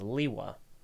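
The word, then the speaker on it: Lewa: and named him and according to him the dictionary stated the pronunciation was Li hua there you go again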